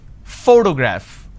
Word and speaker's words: photograph: pronounce this particular word photograph the correct pronunciation is photograph which means I'm stressing on this particular syllable which is the first syllable please give me the